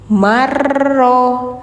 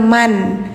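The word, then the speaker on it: مَنْ: Kenapa bacanya mar? Kenapa enggak man? Nah, karena di sini ada proses idgam, Teman-teman, ya. Idgam itu artinya memasukkan ya. memasukkan satu huruf ke huruf berikutnya. Jadi yang awalnya man jadi mar.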